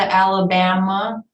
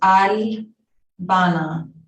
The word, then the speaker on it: Albana: Some people pronounce it Alabama. Some people pronounce it Albana, but it is pronounced Albana.